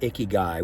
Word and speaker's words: ikigai: of looking at life they have a word icky guy which is spelled i-k-i-g-a-i which simply means I have a